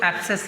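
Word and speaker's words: apse: एप्स लिखो, एप्स figure बना लो, इसी को एप्सेस, ये पॉइंट को एप्सेस बना दो, ये एप्सेस कहलाएंगे, ए पी एस ई, एप्स।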